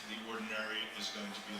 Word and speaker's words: Ordinariate: So for instance, if you had converts from Anglicanism that wanted to come and join your particular ordinariate. Everyone say it with me. Ordinariate. It gets mispronounced a lot.